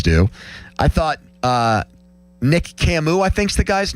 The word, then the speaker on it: Camus: I've always thought um Camu was just pronounced Camas. Like oh yeah, Albert Camas. Yeah, Camu.